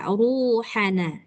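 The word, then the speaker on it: رُوحَنَا: Ini dia ruhana ya, ruhana. Jadi, enggak boleh baca ru tapi ru ru tebal.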